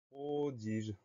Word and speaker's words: prodige: Le mot suivant, c'est le mot prodige. Première syllabe, pro, P-R-O. Deuxième syllabe, di, D-I. Troisième syllabe, je, G-E. Donc, le son J s'obtient avec un G.